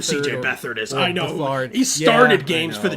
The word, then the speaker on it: Beathard: Beathard why is that not pronounced beat hard? It's not beat hard. It is. I know Beathard who C.J. Beathard is. I know. Bethard.